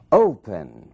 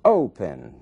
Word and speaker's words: open: Open. Opening. Mesmo caso. Open. Ali na primeira sílaba é que está a força dessa palavra, é que está a sílaba tônica.